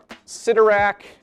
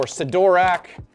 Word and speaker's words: Sidorak: answer is yes so we have ciderac or sidorak I think it's kind of interchangeable of sidorak and rudaka